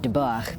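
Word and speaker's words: Debord: We have to meet Gee Debor. And yes, I'm pronouncing it dor instead of debah because saying debach in the middle of an English sentence sounds silly.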